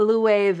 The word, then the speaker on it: Loewe: years now J called a loo wave eh yeah that's how you say it Louie they I've heard